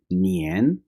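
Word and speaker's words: 年: सबसे पहले साल के लिए जो वर्ड बोला जाता है, प्रोनाउंसिएशन को गौर कर लीजिए। नियन, नियन, नियन। अक्सर इंग्लिश स्पीकर्स जो हैं वो नियान बोल जाते हैं, एक ही प्रोनाउंसिएशन को दुरुस्त तरीके से नहीं बोल सकते।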